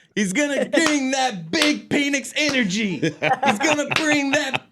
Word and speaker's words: Penix: He changed the pronunciation. To what, Chris? To Penix.